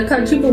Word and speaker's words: cachupa: So from what I have heard you saying, typically you put, the cachupa. Am I saying it right? Yeah, the kachupa will take.